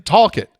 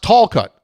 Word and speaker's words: Talcott: Not in Hinton, Talcott. Pronounced Talcott. And it's one word. Say it fast.